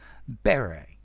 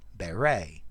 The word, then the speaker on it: beret: Beret, British pronunciation. Beret, American pronunciation.